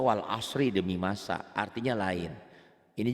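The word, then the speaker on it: والعصر: pun Quran apalagi kekuran jadi kalau kita membacanya Walsh salah harusnya Wal ashri Demi Masa artinya lain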